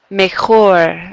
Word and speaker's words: mejor: Mejor. Again, this is where that J becomes that H sound.